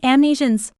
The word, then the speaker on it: Amnesians: Nice name, Amnesians. It rhymes with Elysian, as in the Elysian Fields, which is what this